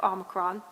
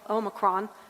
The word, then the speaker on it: omicron: that could explain it there's actually three ways to to pronounce it and it's very interesting one is the the american way which is omicron one is the um international omicron and then there's a third uh the british and i didn't quite get